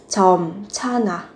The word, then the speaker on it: 젊잖아: Phát âm ở đây phụ âm kép nhưng các bạn đọc phát âm là thành 젊잖아. 넌 아직 젊잖아.